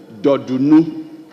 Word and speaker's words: Dodunu: Blom, Kofi Dodunu. The Dodunu is spelled D-O-R-D-U-N-U, Dodunu.